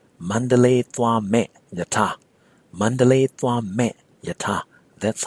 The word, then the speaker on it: Mandalay: that will go to Mandalay well the name of the city the proper pronunciation in Burmese is not Mandalay but mandala mandala the verb to